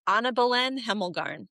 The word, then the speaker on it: Annabelen Hemelgarn: For for the crowd, please please give us the correct pronunciation. It is Anna Balen Hemlgarn.